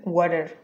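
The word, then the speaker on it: water: শব্দ পরের শব্দ হচ্ছে ওয়াটার এইটা ফ্ল্যাপিং করলে হয়ে যাবে ওয়াটার ওয়াটার ওয়াটার আমরা সেন্টেন্স ব্যবহার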